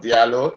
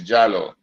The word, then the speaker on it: Diallo: So, I always say Diallo, but I was told Diallo, but I was told the pronunciation is not Diallo, it's Jallo.